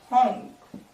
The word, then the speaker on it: 红: Hong.